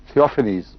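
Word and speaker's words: Theophanes: تھیوفینیس اس کا تلفظ ہوگا.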